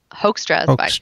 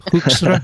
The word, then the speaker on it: Hoekstra: Hoekstra. Hoekstra. Yeah. I mean, I think you should go for the Dutch. That sounds more spicy to me. Hoekstra?